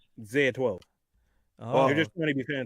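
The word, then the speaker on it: X Æ A-12: Musk naming his kid XAEA12, some weird Zeta 12. Zeta 12. No, Zaya. That's how I pronounce it. Zaya. Zaya. If you take the X and then the AE and then the A, Zaya 12.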